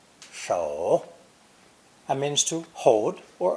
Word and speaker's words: 守: This new character is pronounced third tone, 手, 手, and means to hold